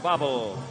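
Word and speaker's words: Bawel: at right and Ray bubble number 72 and quickly let's dispel any question about pronunciation of his name spelled b-a-w-e-l but pronounced bubble and let's tackle Dave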